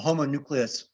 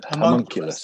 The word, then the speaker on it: homunculus: two stars um um the homonucleus i'm not sure if i'm pronouncing that right homunculus thank you man i just could not get it right there um the monkeyless uh